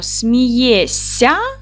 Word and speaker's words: смієшся: А будемо писати дивиться вимовляємо смієся чуємо букву с с а пишемо смієшся оце дітки треба вам